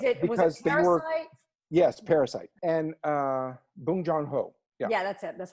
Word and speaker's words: Bong Joon-ho: Yes, Parasite, and Bong Joon-ho.